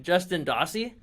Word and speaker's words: Justin Dossey: So I hope I pronounced your name right. Justin Dossey?